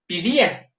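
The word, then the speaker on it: paideia: Pa d i a paideya. se debe de pronunciar pidía porque los diptongos alfa yota como eta yota se pronuncian como iota, como i en la en el griego moderno.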